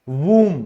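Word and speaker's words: womb: तो उस कोख की इंग्लिश होती है वूम। क्या होती है, वूम। उसमें भी हमारा बी साइलेंट होता है।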